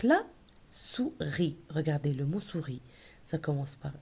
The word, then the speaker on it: souris: Regardez le mot souris. Ça commence par S, ça se termine par S. Oui ou non? Le dernier S, on ne le prononce pas.